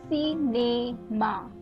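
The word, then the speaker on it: cinéma: The first one is cinema, right? So you're pronouncing the A where the E with an accent aigu is coming, right?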